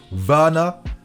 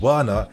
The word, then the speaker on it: Werner: It's Werner, not Werner, and I swear to